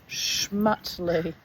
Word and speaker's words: Smutley: in biker circles as Smutley, pronounced Schmutly.